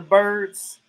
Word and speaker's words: Byrd: Yeah, the Blackbirds, Donald Byrd, and the rest of the birds. They all brothers, I think. But their last name is Bird, though. But it's spelled Byrd.